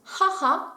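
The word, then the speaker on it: はは: Pour la maman, elle se prononce haha quand on parle de ma maman, et sinon si je parle de la mère de quelqu'un, ce sera okasan.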